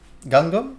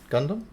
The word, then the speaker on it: Gundam: that was before oh gungum is that how you say it gundam no it was all